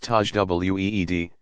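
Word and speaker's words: tajwid: elaborate and demanding style called tej wit pronounced Taj w ee d embellished excellent is called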